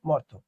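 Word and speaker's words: মর্ত্য: দেখো বন্ধা ইকুয়াল বন্ধা, সন্ন্যাসী ইকুয়াল সন্ন্যাসী, উচ্চারণ হচ্ছে না। মর্ত ইকুয়াল মর্ত।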